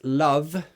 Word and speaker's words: love: how do you pronounce love and laugh again there's two differences love that's a voiced sound love love vibration love vibration laugh there's no vibration nah it's just air it's no vibration love laughs so love